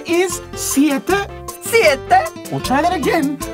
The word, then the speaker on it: siete: 7 is siete.